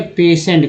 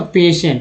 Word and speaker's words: patient: तो एक वर्ड ले लीजिए पेशेंट का, PATIENT। उच्चारण क्या होगा इसका दोस्तों? पेशेंट लिखते हैं इससे, पेशेंट। इसको मैं समझाने के लिए बता रहा हूँ। जैसे देखिए पेशेंट में लास्ट में टी है, PATIENT, तो लास्ट में टी